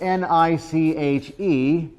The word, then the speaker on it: niche: There's a word that's spelled N-I-C-H-E. How is that pronounced? Niche. Why? Rhymes with rich.